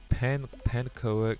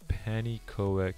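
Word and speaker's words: pannenkoek: Say pancoek, it's panikoek. It's a Dutch word.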